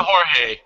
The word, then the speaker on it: Jorge: I gotta say too that MMA has totally ruined me for pronouncing Jorge correctly because of the whole like Brazilian Spanish thing. No, this dude is he's very, very Mexican, put it that way.